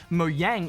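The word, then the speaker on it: Mojang: believe you'll find that moyang is the Swedish word for Gadget and in the Swedish language J's are often pronounced with a sort of Y sound look I'll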